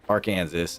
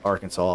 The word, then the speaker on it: Arkansas: So I just kept saying it and then later realized later in life that it was not pronounced Aranansas. It is in fact pronounced Arkansas and I am in fact a dumbass.